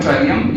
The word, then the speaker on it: Trillium: Largest chromosome in plant ट्राइलियम, TRILLIUM, यानी size किस plant में क्रोमोसोम का सबसे बड़ा होता है तो उसका नाम है ट्राइलियम, या ट्रिलियम भी पढ़ते हैं बहुत से लोग, TRILLIUM, ट्रिलियम।